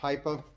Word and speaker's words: HIPA: But I've been seeing a lot of ads for this brand lately, and it's pronounced HIPA.